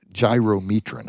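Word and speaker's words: gyromitrin: They did just they found a new way to to test for the toxin which is gy gy gyrometran I think is how it's pronounced but it's got uh monomethyl hydroine which is breaks down into something they make rocket fuel from.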